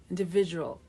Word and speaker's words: individual: A 5-syllable word with a middle syllable stress. Okay? Individual. Okay? Higher in pitch. We start with a in. This I is similar to our I in Ignacio. Okay? In the, schwa, in the V, again, like the beginning, in the individual. At the end, we have this da, and j. But to close this word, we have to say wa, individual. Okay? Dark L at the end.